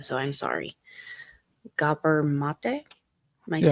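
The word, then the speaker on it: Gabor Maté: And this is actually knowledge from, I never know how to pronounce his name, so I'm sorry. Gabor Mate.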